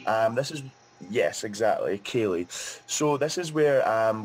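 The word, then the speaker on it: ceilidh: time what we have is something called a kaylee which is that going to be hard for you to pronounce a kaylie um this is yes exactly kaylee so this is where um we do something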